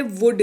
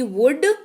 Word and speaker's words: would: वहां इस्तेमाल होता है वुड का, WOULD, वुड। देखिए एल जो है वो साइलेंट रहता है, ये मैं बता दूं।